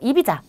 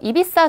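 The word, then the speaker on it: Ibiza: 관광지는 일단 발렌시아 그리고 이비자 비사라는 하죠 이비사 섬은 클럽으로 유명해요 그래서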